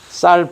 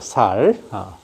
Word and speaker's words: 쌀: 있는 방법들이 뭐냐 쌀 쌀 발음이 잘 안되는 사람들이 많죠 쌀 해야 되는데 살이라고 하죠 살 쌀을 영어로 하면 라이스